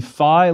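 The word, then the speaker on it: φ: life is too short most students of ancient Greek pronounce the FI like the F sound at the beginning of philosophy please repeat fi F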